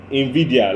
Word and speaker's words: Nvidia: For example, the CEO of Nvidia, like Vidya, yes, but it's spelled Nvidia.